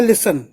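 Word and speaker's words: listen: अगला है लिसन, सुनना। तो लिसन की स्पेलिंग लिख लो, एल आई एस टी ई एन, एल आई एस टी ई एन। तो जो टी होता है वो इसमें साइलेंट होता है, लिसन में टी साइलेंट होता है।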